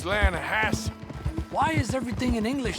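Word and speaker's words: Lannahechee: I rode down to the Lanahatchee River. I caught some beautiful steelhead trout. You mean the Lanahatchee River? No. The Lanahatchee. It runs right near here. Yeah, but it's pronounced Lanahatchee.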